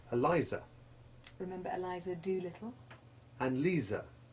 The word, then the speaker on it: Lisa: and Lisa, in which the Z becomes hard S1 and the I usually changes to long I3 so that it rhymes with Pisa.